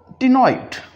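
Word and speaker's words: ctenoid: या फिर इसी तरह से हम एक और वर्ड बोल रहे होते हैं यहाँ पर जिसका ताल्लुक इसी प्रोनाउंसिएशन से है, टिनॉइड स्केल्स।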